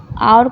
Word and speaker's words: hour: आवर को देखिए, आवर को देख के हम लोग फटाफट से आंसर देंगे। इसका एच तो है लेकिन ये साइलेंट है, तो यहाँ पर हम